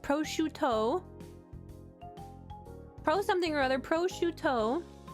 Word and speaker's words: prosciutto: I have a pro scooter, another pro scooter, a third pro scooter. If you're talking about if you're talking about that word, it's pronounced prosciutto.